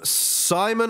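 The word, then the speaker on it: Saaiman: But the other option, which is in Angus's article, was a Cameron Simon. I think I've pronounced that right. It's Saaaiman.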